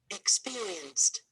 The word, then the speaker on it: experienced: Experienced. Experienced. Experienced. Experienced. Experienced. So we have four syllables here, and the stress is on the second syllable.